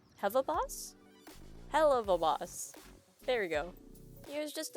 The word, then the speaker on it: Helluva Boss: that came out before the official series did… Heva Boss! 'Heva Boss?' Hell-uv-a Boss There we go Here’s just a brief rundown